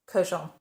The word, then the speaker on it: Kurkdjian: the name repeatedly, and they say it Francis Kurkdjian. And I have been pronouncing it wrong in every single video I have made throughout my lifetime on YouTube, 5 years.